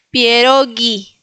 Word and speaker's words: pierogi: Entonces, nosotros en español diríamos pierogi, pero en polaco no existe esa g. Entonces diríamos pierogi. Pierogi bien fuerte.